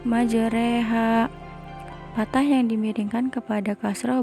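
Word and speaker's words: مجريها: Jangan sampai salah yaitu dengan memiringkan patah pada huruf ro kepada kasrah Hai jadi cara membacanya tidak majroha akan tetapi menjadi majreha Fatah yang dimiringkan kepada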